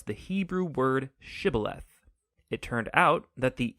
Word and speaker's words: shibboleth: and asked everybody who wanted to cross to pronounce the hebrew word shibboleth it turned out that the ephraimites had grown up pronouncing that word differently so instead of saying shibboleth they would say sybileth when that happened the gili knight guard would